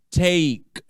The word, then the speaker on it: take: Take, take, tá bom? De novo, tira esse E daí, não pronuncia este E.